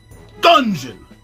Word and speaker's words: Dungeon!: Dungeon! You gotta say it like that with emphasis. Dungeon! Because it has an exclamation point at the end of it.